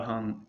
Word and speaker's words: hum: more vibration going everywhere, when you do in any mantra the hung HUM, it's spelled HUM or HUNG. The reason for this is because you're supposed to rise the vibration into the back of your throat, but keep your lips closed.